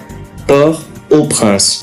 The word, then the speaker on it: Port-au-Prince: propre port au prince attention à la prononciation pas de liaison port au prince la capitale d'haïti un